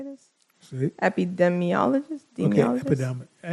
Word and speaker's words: epidemiologist: Epidemiologist? Okay, epidemiologist.